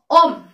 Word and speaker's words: ohm: mana satuannya itu adalah kita bacanya om home tulisannya adalah ohm dimana simbolnya seperti ini